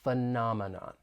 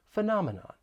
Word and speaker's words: phenomenon: It has four syllables. The stress is on that second syllable, phenomenon, phenomenon.